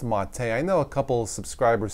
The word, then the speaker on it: MATE: system integrating the mate desktop or mate it's pronounced mate I know a couple subscribers says I was